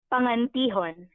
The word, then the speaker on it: Pangantihon: So my last name is pronounced Pangantihon.